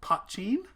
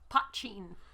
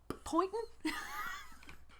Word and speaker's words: Poitín: really interesting one called Poitín. Poitín. You have no idea how much of a struggle it has been trying to figure out how to pronounce this. It is spelled Poitin. And the first time I asked them, I was like, hey, can you tell me about that pointing?